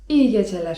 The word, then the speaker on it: iyi geceler: iyi geceler (czyt.